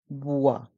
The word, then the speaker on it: bois: bois pas d'alcool ici dans le mot bois le O et le i font le son o bois et le s est mué dans le mot alcool